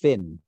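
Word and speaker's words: Fionn: And Ffion Whitehead. I think it's pronounced Finn.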